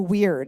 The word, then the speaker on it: wyrd: and he says everybody has a weird except it's spelled wyrd and that was a